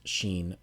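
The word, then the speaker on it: ש: And the letter, pronounced Sheen, looks like this.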